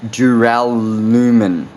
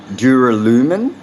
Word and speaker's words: duralumin: type of it's very hard for me to pronounce actually it's called duralumin duralumin duralumin okay there we go so I hope